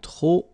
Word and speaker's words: trop: If you want to use trop, and trop means too many, okay, then you will have to put de, and the noun without the article. Okay, remember, too many, trop, don't pronounce the final P.